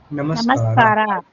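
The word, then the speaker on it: ನಮಸ್ಕಾರ: The first word let's learn, hi, is namaskara. Namaskara.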